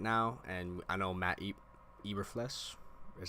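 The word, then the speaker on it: Eberflus: tackle more right now and I know Matty Eber flesh is how you say it the the Bears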